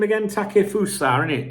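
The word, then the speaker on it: Takefusa: now CUO uh there was um how' you pronounce his first name again takusa a it takusa takusa takusa Cubo massive write up about him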